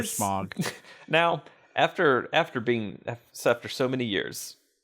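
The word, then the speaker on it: Smough: Or Smo, or Smuggles, or Smith, or Smith, or however you say his name. Smo, I think is generally accepted now, but I'd still prefer Smog.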